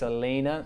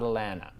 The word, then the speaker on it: Alayna: It's Alayna, not Alana.